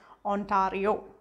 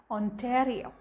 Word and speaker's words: Ontario: actually when i read as a discipline is ontario but it's pronounced ontario ontario right and that's um an interesting wave